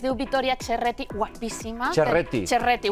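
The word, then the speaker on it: Ceretti: Cerretti, bueno, perquè es pronuncia així.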